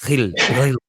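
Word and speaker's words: Gil: I've heard it's like I can't do it. It's like Hill, like Hill.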